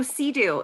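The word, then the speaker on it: CEADU: both projects um so Sea-Doo is the Council of expert advisors on drug use um how do I move this is our logo um we pronounce it Sea-Doo but it's c-e-a-d-u and um really the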